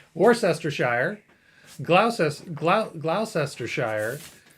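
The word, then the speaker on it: Gloucestershire: and for all to the Americans how to pronounce these English countries uh War sester Shire GL GL glester Shire lestershire and bling bling Faire yeah yeah those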